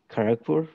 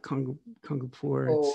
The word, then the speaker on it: Kharagpur: you recollect but yeah it's um kharagpur probably i want to say that but it's not kangapur i actually wrote it